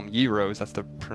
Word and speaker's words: gyros: a yo, I know some people call them gyros, girros, I call them yros, that's the correct pronunciation.